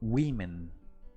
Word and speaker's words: women: mujer woman sin embargo el plural cuando hablamos de más de una se pronuncia como women women women y la última palabra